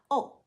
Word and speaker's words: ʻŌ: The macron over the O is called a kahako in Hawaiian and indicates that the vowel it is over is stressed. So the word for fork is pronounced O, not O.